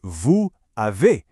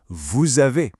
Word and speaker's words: vous avez: You don't hear vous avez, you hear vous avez. It just flows together into one elegant phrase.